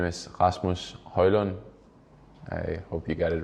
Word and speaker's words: Højlund: on could you just give us the correct pronunciation of your name so they can do that uh yes my name is Rasmus hoyland I hope you got it right now yeah